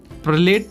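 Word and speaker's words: Perlette: 47 है, प्रलेट इज a variety of, तो प्रिलेट है जो वैरायटी है, प्रलेट या फिर प्रलेट बोले, इसके कई प्रोनाउंसिएशन है, जगह जगह अलग अलग है।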